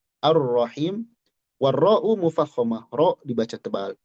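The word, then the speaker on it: الرحيم: Kita tidak baca Al-Rahman, Al-Rahim, tapi Ar-Ro, Ar-Ro, langsung ke Ro. Nah, di sini dikatakan yuntoku biro'in musyaddadah. Diucapkan dengan ro bertasydid ba'da hamzatil wasli, setelah hamzah wasal. Ar-Ra, bukan Al-Ra.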